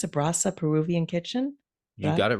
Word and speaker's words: Brasa: had uh within your um How do you pronounce it Brasa Peruvian kitchen you got it right the first